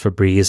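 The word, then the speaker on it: Febreze: it is I guess spelled as for brez but it's pronounced for Breeze and there's only one e well I'm going to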